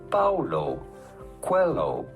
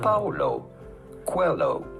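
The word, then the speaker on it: Paulo Coelho: to pronounce that how do you go about pronouncing his name Paulo Quello quo Paulo Quello pretty straightforward once you know Paulo qu hello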